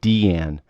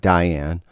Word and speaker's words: Diane: and by the way her name is pronounced Dee Ann not Diane even though it's pronounced